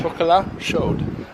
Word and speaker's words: chocolat chaud: Chocolat chaud. I wouldn't pronounce the D, but okay.